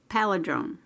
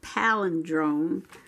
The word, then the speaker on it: palindrome: for december 22 which is a palladrone is that how you say it palladrone yeah that's a palindrome which means you read